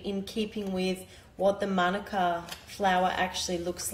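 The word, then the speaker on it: Mānuka: So I think most of us Aussies are used to pronouncing it Manuka. The correct way of enunciating it is Manuka.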